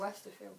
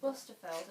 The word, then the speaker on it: Westerfeld: I keep saying author's name wrong. It's I kept saying Westerfeld. Westerfield. Westerfeld. It's not got an I in it.